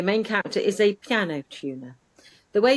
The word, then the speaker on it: Tuner: But tuner, the main character is a piano tuner. The way it's pronounced it's set in America, that it sounds like the fish, but it's not the fish. It's tuner, as in piano tuner.